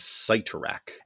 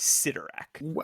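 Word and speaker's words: Cyttorak: Can you think of another word that starts with CY that is pronounced si instead of psi?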